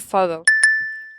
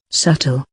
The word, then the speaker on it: subtle: I don't want to sound so, but I think subtle. And here's how it should be pronounced. Subtle. Subtle. Subtle.